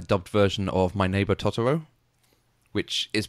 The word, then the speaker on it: Totoro: version of my neighbor tooro which is pronounced exactly like that my neighbor tooro but in the American dub it's todoro come play with us todoro it GRS a little